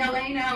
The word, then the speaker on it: Elena: know everybody calls me elena or alana or this but i just let you know if it's elena like ellen with an a but anyway i have